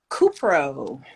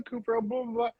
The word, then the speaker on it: cupro: we go oh also how do you pronounce the name of this fiber cupro oh thank god because the whole video i was like this is the cooper and then as i